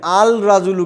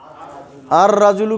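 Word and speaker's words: الرجل: করি তাহলে আর রাজুলু এখানে আল রাজুলু কিন্তু হবে না আর রাজুলু কেন হবে ওই যে হুরুফুস শামসিয়া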